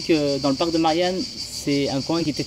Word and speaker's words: Marjan: la nature onouve actuellement donc au parc de Marian qui s'écrit Marjan M a r J a n